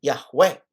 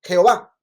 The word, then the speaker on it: Yahweh: Yahweh. Y nosotros le pusimos vocales que nos ayuden a pronunciarlo. Pero otros le pusieron otras vocales y tenemos Jehová. Pero Yahweh es más cercano al tetragramatón, que es tetragramatón 4